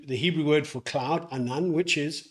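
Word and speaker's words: ענן: Hebrew word for cloud, anan, which is anan. Now, the Hebrew word for cloud is spelt with an ayin, a nun and a nun, and it's pronounced as anan.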